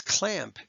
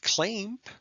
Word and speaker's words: clamp: put separate lines there the a is short it's clamp it's not claim okay it's a closed syllable